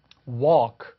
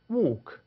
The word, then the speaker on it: walk: walk 이렇게 미국식 발음할 수 있는데 영국 친구들은 walk, walk 이렇게 발음해요.